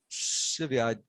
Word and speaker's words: Sevierville: Severe. Thank you. I had no idea how to pronounce it.